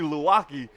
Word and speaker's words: Luwaki: Does it rhyme with Milwaukee? You're right. Number 42, Samsoni Luwaki, coming in, and like we mentioned, he's been all over that football, all over the quarterback tonight.